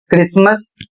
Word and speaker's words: Christmas: सी एच आर आई एस टी एम ए एस और इसे पढ़ा जाता है क्रिसमस।